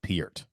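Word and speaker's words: Peart: 70s and 80s oh is that how you pronounce his name i was saying pert is it piert it's peered actually yeah how do you spell that p-e-a-r-t he actually pronounces it piert i actually heard him say it on a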